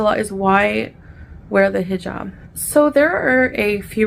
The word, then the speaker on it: hijab: really I mean I've seen I've been saying hijab since I started my channel because that's how it's pronounced that's how I pronounce it and ever since I made a serious point of to stop saying he Jab now she's suddenly saying it correctly I don't